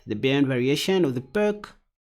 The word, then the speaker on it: Pirc: Then I played the burn variation of the perk. Others pronounce it as the Pirc. It doesn't even matter.